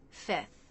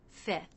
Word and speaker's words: fifth: You might sometimes hear a native speaker simplify this by dropping the F before the TH. fifth, fifth.